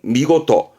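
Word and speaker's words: 見事: 요게 견사, 어떠한 일을 본다라는 건데 발음은 미고토. 이것도 뜻과 뜻으로 읽는데요.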